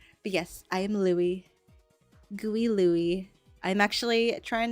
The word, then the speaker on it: Louis: Yes, it is pronounced Louis. I just like to spell it with zeros because why not? But yes, I am Louis.